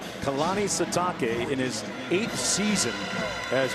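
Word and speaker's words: Sitake: up 14 Kanani satake that's right it is satake that is the proper pronunciation Kanani satake in his eighth seon as BYU's head coach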